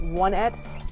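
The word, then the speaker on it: Onett: I think it's supposed to be pronounced one-et Oh, yeah, instead of on, because there's On-et, on it, yeah.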